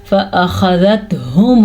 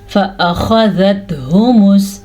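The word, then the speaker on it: فأخذتهم: فأخذتہم الصاعقۃ, فأخذتہم, اچھا جی, خا کے تلفظ پہ دھیان دیجیے گا. یہ خا, ح, ہا, یہ 3 ملتے جلتے ہیں تو اکثر لوگ ان کو مکس کر دیتے ہیں اور غلط پڑھتے ہیں.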